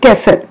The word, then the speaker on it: castle: Okay, we pronounce it like कैसल।